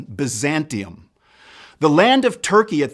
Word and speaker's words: Byzantium: as in it is pronounced in Latin, Byzantium.